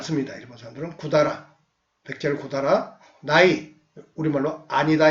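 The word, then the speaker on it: 百済: 고다라는 백제를 일본식으로 말하면 쿠다라라고 부릅니다. 샤쿠다이 이렇게 한자로 발음할 수도 있는데 그런 말을 안 씁니다. 일본 사람들은 구다라, 백제를 구다라, 나이, 우리말로 아니다 이 말이에요.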